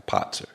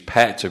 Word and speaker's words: Patzer: That's where my name, Patzer, which in the chess it's like a Potzer. He's a Potzer. But for gaming, I just use Patzer because that's the way it's spelled.